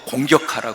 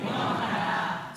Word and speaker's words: 공경: 공격하라 그러지 말고. 다시 시작. 내 아버지와 어머니를, 다시 발음 정확히 하시라고요. 공격이라고 들리면 절대로 안 됩니다. 시작. 내 아버지와 어머니를 공경하라.